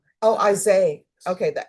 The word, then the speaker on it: Isaiah: All right, how do you pronounce your first name? Isaiah? Isaiah? The H is silent. Oh, Isaiah.